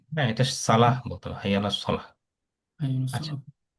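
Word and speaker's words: صلاة: হ্যাঁ, ওয়াটা অনেকে উচ্চারণ করে, যদি ঠিক মতো না জানা থাকে এটা আসলে উচ্চারণ হবে না। জি জি জি জি জি। হ্যাঁ, এটা সালাহ বলতে হবে, হাইয়ালা সলাহ।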